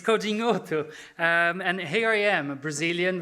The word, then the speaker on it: Codinhoto: the first joke is can anyone pronounce my surname and you did it brilliantly it's coding Auto and here I am